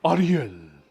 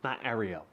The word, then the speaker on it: Ariel: It's Ariel. That's how you pronounce my name. Okay. Not Ariel. Not Ariel.